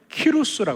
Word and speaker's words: 키루스: 많이 알고 있는 왕 그 왕의 이름은 키루스라 그래요. 키루스. 영어적으로 이해하면 사이러스라고 부르거든요. 이렇게 발음이 달라서 제가 처음에 공부할 때 엄청 애를 먹었습니다. 저 이름이 과연 뭐냐 그러고 원래는 키루스라고 불러요. 키루스.